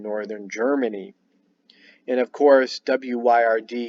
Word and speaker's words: Wyrd: And of course, Wyrd is also pronounced word.